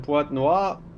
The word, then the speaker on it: Pointe-Noire: It's Pointe-Noire. Alright. Pointe-Noire. Now we're getting into a territory that we might not should get into. We don't have to make this stream X-rated. Pointe-Noire, French pronunciation Pointe-Noire.